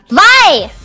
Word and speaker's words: Vi: Vi! Vi? Vi! Why is it spelled like that then?